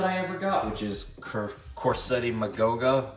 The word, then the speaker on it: Quercetti: which is Corsetti Magoga or actually I recently found out that it might actually be pronounced Kchetti Magoga but you know I'm just used to saying Corsetti that just that just sounds more American and less Italian.